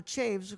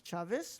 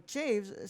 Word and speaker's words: Chaves: remember this interview very well uh Michael Michael Chaves who that's how he pronounces his name apparently to me when I read that name it's Chavez but Michael Chaves said that he had never heard the story